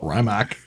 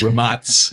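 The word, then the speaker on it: Rimac: mean if you want to give the American pronunciation you can call it remark but romance is the uh correct pronunciation for the company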